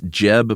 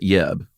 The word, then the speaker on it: Jeb: still is, named Jens Jeb Bergensten as lead designer. Watched a few interviews with this guy. Mm-hmm. Is it pronounced Jens? It's definitely Jens, but it's also Jeb and not Yeb.